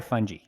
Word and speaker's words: fungi: Do you say fungi or fungi? Oh, either way. Hard G, soft G, players.